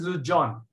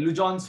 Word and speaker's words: Legendre: So it is pronounced as Lujon. Okay. Lujon's formula.